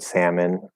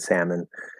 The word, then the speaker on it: salmon: to pronounce the l the silent l in like almond and salmon i would assume not in words like wok because that's extremely strange but in some words almond salmon they're saying almond and